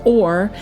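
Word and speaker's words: עור: That Hebrew word for skin is pronounced or, and it's Strong's number H5783, and it means skin or hide, skin of men or a hide of animals.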